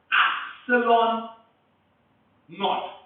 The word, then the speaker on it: epsilon naught: this is called as epsilon naught. Epsilon 0 भी कहते हैं या epsilon naught भी कहते हैं. That is how you pronounce it.